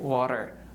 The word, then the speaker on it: water: Just we can say like water.